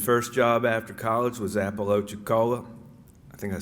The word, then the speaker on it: Apalachicola: from furman his first job after college was apollo chicola i think i said it right apalachicola high in apalachicola florida for two seasons where